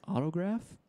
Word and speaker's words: Autograf: Check out Autograph. It's spelled AUTOGRAF. That's Autograph.